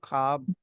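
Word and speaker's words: خواب: की सी है जी ख्वाब में जो वाव है वो साइलेंट है तो आप इसको ख्वाब पढ़ेंगे मतलब ख्वाब भी जाता है वाव इज साइलेंट यहां यहां पे जो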